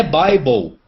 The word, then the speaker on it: Bible: Só que não é Bíblia a pronúncia. A pronúncia é Bible.